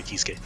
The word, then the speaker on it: Kiske: Sin Then Kisk. Kisuke. Is it Kisk or Kisuke? It's I don't know why it's pronounced this way, but when the announcer pronounces it, it's Kisk.